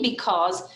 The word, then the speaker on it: because: double e sound and the letters a u stand for the uh sound and the letters stands for a z sound so when you're reading because we have to learn